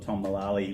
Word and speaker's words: Mullally: I was in Bali, and I was interviewing and recording a guy called Tom Mullally, which rhymes with Bali, but anyway, for some reason makes it strange.